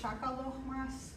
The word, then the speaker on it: shakalochmahs: I pronounce it shakalochmahs. So the A's in Armenian are ah, like the ah sound. So it's shakaloch and then mahs.